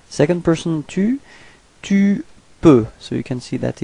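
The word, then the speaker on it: peux: Second person to to P. So you can see that it's exactly the same way of writing it and exactly the same of pronouncing it. You don't pronounce the final X. So it's P.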